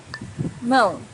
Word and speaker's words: mão: Mão, hand. Mão's a little bit difficult to pronounce for beginners because of this nasal sound, But try to practice it and you'll get better and better each time.